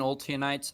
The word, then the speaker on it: Alites: just so it said when I'm saying alites I I say it like Israelites a ites at the end the children of Alan